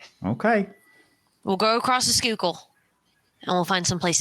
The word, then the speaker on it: Schuylkill: somewhere across the um is it the sky kill river is that how you pronounce it stop it's a Schuylkill where the [ __